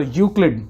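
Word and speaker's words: Euclid: तो यूक्लिड, ध्यान रखिए, अगर आप इस वर्ड को ठीक से नहीं पढ़ पा रहे हैं तो ई को हल्का सा साइलेंट बोलिए।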